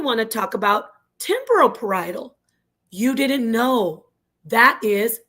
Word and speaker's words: parietal: Parietal. Not parishal, not perily, not parallel. It's parietal.